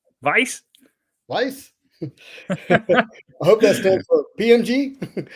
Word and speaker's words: Weiss: weiss coming out w-i-e-s-s how do you say that it's a german word no vice lice i hope that's